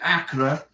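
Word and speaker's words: Accra: in Acra congratulations and now it's AKA right that's how you pronounce it ACA Ghana and passport is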